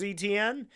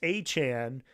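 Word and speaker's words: Etienne: So, I thought it was ETN.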